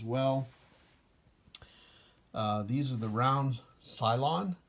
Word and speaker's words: Cylon: These are the round Cylon. I'm pretty sure I'm pronouncing that right now. I think I pronounced it Cyclone at some point.